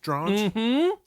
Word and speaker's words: Drange: Rhymes with orange, Drange.